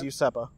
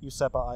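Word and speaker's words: Useppa: supposed pirate stronghold that he had it was usepa that would that's how it's pronounced it's spelled e-u-s-e-p-p-a usepa Island interesting that so usop he has a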